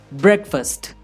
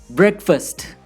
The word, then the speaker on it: breakfast: Listen to these words carefully when I pronounce them. Breakfast, banana, tomorrow, university, information. Can you hear it? The highlighted parts of these words are stressed or emphasized. Breakfast, banana, tomorrow, university, information.